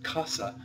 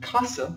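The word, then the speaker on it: casa: going to teach you when an S is in between two vowels it is no longer an S it is in fact a z so this isn't Kasa like you would say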